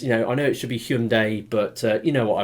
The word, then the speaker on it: Hyundai: Yeah, I'm sorry I fall into that trap of saying pronouncing the name wrong, because I'm English and I look at the word and I see Hyundai. Now I split the word up into syllables, and Hyundai, and it's a common trait with us in Britain, but it's Hyundai.